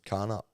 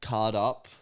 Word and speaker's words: Cardup: You could be a small YouTuber and then live in Carnup. I don't know what that is. What? Carnup. I don't know. Yeah, Said that. yeah, card up, Cardup, yeah. spelt with a D.